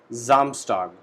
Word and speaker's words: Samstag: Monday, Montag, Tuesday, Dienstag, Wednesday, Mittwoch, Thursday, Donnerstag, Friday, Freitag, Saturday, Samstag. In this word, S alphabet is pronounced as Z. So we call it Samstag, means Saturday.